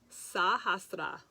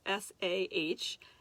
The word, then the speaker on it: Sahasrara: Anyway, it's Sahasrara. So it's Sahasrara. So don't forget, in Sanskrit we pronounce all the consonants.